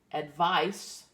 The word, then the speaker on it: advice: it's a verb and the one with the S sound spelled with a C advice is a noun they are related but